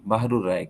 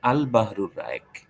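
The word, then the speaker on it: البحر الرائق: গ্রন্থ আল বাহরুর রায়েক আমরা অনেক সময় শব্দটাকে বলি বাহরুর রায়েক কিন্তু বাহরুর রায়েক না কিন্তু বলতে হবে আল বাহরুর রায়েক এটা হলো তার বিশুদ্ধ উচ্চারণ এমনিভাবে আল আসবা নাজা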